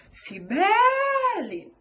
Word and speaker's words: Sibeli: Se fossem chamar por mim, falariam Sibeli. O B é a minha sílaba tônica.